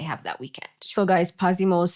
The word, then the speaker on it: Pazimo: So guys, Pasimo is spelled P A Z I M O.